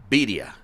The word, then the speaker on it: birria: Or you however always you put the pronounce emphasis on the wrong syllable. No. It's birria.